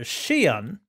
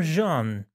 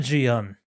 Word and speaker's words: Xi'an: It's either Xi'an or Jean, but not Xi'an.